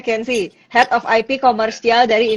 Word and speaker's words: Kenzi: Bacanya Kenzi.